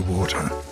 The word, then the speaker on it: water: sound in American English the T sound in words like water becomes a quick soft flap like a light D sound the water was so great but